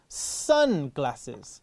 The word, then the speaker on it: sunglasses: กัน แดด นะ ครับ Sun Glasses อ๋อ ก็ คือ sunglasses เน้น พยางค แรก เหมือน แว่น กัน แดด นะ